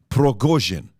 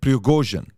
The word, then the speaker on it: Prigozhin: Number one, the guy behind Wagner Group is a guy named, I want to pronounce this correctly, Yevgeny Prigozhin. Okay, Prigozhin, that's his name, Yevgeny Prigozhin.